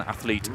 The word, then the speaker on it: athlete: So we will have our first Italian athlete, Jeanluca Vignetti from Italy. And we have our first British athlete. Athlete. I keep adding a syllable to the word athlete.